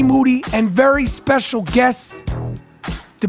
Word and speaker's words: Moody: of the year G Moody whose last name rhymes with Duty always ready G monetti